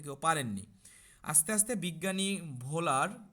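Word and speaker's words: Wöhler: আস্তে আস্তে বিজ্ঞানী ভোলার, কেউ উচ্চারণ এটাকে ইংলিশে যদি উচ্চারণ করতে যাও, তখন এটার উচ্চারণটা উহুলার হয়, ইউলার হয় সহজ কথায়।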